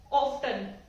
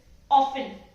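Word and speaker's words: often: ऑफ्टन, ऑफ्टन नहीं, actually में ये टी है ही नहीं, ये टी साइलेंट है, इट्स ऑफन, ऑफन, राइट।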